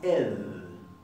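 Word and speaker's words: ð: Y la siguiente se llama ed, y es más suave. Es así, es fricativa interdental, y la podemos estirar todo lo que queramos.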